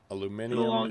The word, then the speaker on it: aluminium: I mean, they're the same thing, just pronounced differently. Like, States is aluminum, um, and Europe's aluminium.